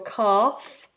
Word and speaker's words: calf: the back is your calf the front is your shin can you see these all right so we have a we have a silent l in C we just